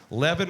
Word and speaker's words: Levin: Our pronunciere, Nancy Levin. She's the director of the Cleveland Heights Public Libraries. And her name, for those of us like myself who sometimes are dyslexic with names, Levin rhymes with heaven.